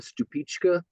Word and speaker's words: Stupice: It's called a stupička. It's spelled stupus, Stupice, but it's Czechoslovakian. It's a stupička.